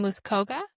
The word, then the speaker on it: Muskoka: You are a former paramedic in Muscoa. Did I say it right? Muskoka. Yeah. Yeah, you got it right.